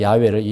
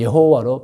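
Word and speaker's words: 야훼: 신은 한 분이라는 거예요 그분 이름은 야외 히브리어로 야외입니다 우리 한국에서는 야외를 여호와로 발음하여 부릅니다 여러분 그러므로 기독교는 기독교는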